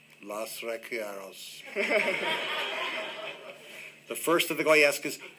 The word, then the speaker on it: Los Requiebros: Now, tell me how to pronounce it right. Los Requiebros. Los Requiebros.